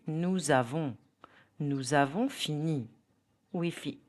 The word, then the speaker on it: nous avons: If you use a pronoun plus a verb, example, nous avons. The pronunciation will be nous avons.